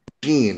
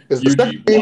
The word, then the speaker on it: Yuji: I keep hearing Eugene. Is the first Yuji, Y-U-J-I. Y-U-J-I. And what's the second name? N-O-B-O. Yeah, that's why it sounds like Eugene.